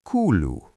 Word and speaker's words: kuuluu: The most common way is Mitä kuuluu? It literally means "What is being heard?" Mnemonic: Imagine a group of friends saying "We talk cool-ly" while they catch up.